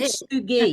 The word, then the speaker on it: Kintsugi: Kisugi. I wanted to make sure I said it right. Kisugi. I think that sounded good to me. Kintsugi.